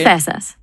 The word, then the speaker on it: Ephesus: Ephesus. E. How do you spell it?